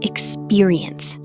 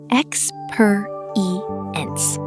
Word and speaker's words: experience: Now the word experience. Ex-pe-ri-ence. Four syllables. Say it slowly. Ex- pe- ri- ence. Ex-pe-ri-ence. The stress is on per. Ex-pe-ri-ence.